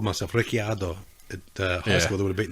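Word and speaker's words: Ricciardo: pronounce your last name is uh Ricardo that's how it is yeah that's how I always pronounced it I know it's not that way in Italian but I grew up that's what my dad said my name was and that's how I pronounced it remember saying if I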